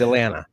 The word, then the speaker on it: Atlanta: It's great because uh you know you don't say that second T. It's Atlanta.